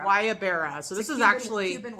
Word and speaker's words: Guayabera: It's like a wedding shirt, but they call it Guayabera. Guayabera.